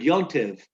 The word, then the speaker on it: Yontiv: good yontiv. Yeah. Good yontiv is a linguistic phrase that illustrates the evolution of Jewish language. Yontiv is a Yiddish pronunciation of the Hebrew adjective-noun combination Yom Tov, a good day.